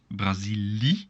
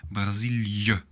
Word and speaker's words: Brazilië: But make sure to pronounce them separately. So this part, so I, and this part. So not Brazilië, no. Brazilië.